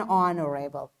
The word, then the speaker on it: honorable: we say this word we don't pronounce this h we start like on